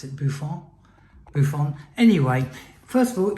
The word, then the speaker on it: Boifun: I pronounce it Boifun.